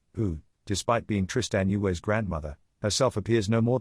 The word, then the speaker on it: Tristan Yue: That's how you say her name, Tristan Yue.